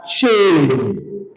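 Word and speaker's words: שֵׁם: So this is pronounced as shame, shame, shame, shame.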